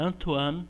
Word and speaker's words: Antoine: a escrita é antônio lauri lavoisier mas a pronúncia antuano laura lavanderias lavam dinheiro foi quem digamos que